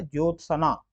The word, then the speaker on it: ज्योत्सना: यह क्या लिखा है ज्योत सना जत सना नहीं होता है ज्योत्सना होता है ज्योना में क्या फर्क